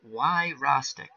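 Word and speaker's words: Wyrostek: Oh wow, I can't even pronounce it as he spelled it out. Why Rostek? Wow. He says I was close. Why Rostek?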